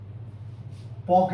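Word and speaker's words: Palk: इसकी स्पेलिंग है पॉक spread P ए एल के पाक जलडमरू इसको बोला जाता है।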